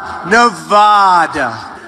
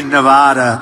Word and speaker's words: Nevada: first the Donalds seemed delighted with his own pronunciation Nevada nobody says it the other way has to be Nevada actually Donald wrong this is right Nevada at one rally get this thing out of